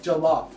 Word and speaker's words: jollof: eyelids mispronouncing food okay I would say I'll say like jollof and you're saying jalan jalan jalan like and I'm